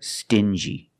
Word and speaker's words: stingy: example dingy and stingy these two words have the regular n Sound n plus the J like juice together sting G together stingy or ding G together dingy